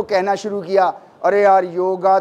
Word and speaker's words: योग: आप में से बहुत कम लोग होंगे जो योग बोल रहे होंगे। योग वर्ड संस्कृत का है, योग वर्ड संस्कृत का है, इसको प्रोनाउंसिएशन इसका योग, नॉट योगा, योग, राइट।